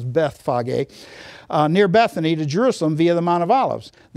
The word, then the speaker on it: Bethphage: That's Bethphage, most people pronounce it that, but it's Bethphage, near Bethany to Jerusalem via the Mount of Olives.